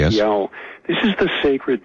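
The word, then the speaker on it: Iao: Uh the Polynesians have a have a word, a sacred word which is spelled I AO. Yao. Yes. Yao.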